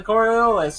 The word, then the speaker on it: Coriolis: turn to page 318 and study this diagram on the Coriolis effect.